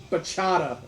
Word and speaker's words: bachata: She said, I want to apologize for off-screen Matt's mispronunciation of bachata. Apparently I'm missing the T.